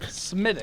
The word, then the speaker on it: Smithwick: It's pronounced Smidic. It's got a W in it.